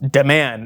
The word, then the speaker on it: D-Man: Pronounced Deman, as Anna says it.